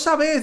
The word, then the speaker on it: sabés: me dice tony vos sabés dónde venden y él me está diciendo vos sabés sabes es decir la fuerza la está poniendo en la última sílaba sin embargo se habló